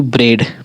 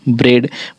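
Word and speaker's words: bread: है देखिए इ ए इ ए का उच्चारण ए हो जाता है और इ भी हो जाता है। ठीक है? ए और इ दोनों होता है। जैसे कि ब्रेड ब्रेड ब्रेड में हमारा ए का उच्चारण हो रहा है।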